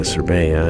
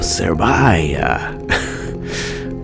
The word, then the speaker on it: Cerbaia: saw for directions, and I mispronounced the town. I said, "Is this the way to Cerbaia?" And he looked at me like, there is no such place. He said, "Oh, Cerbaia." Indeed, that's what I meant.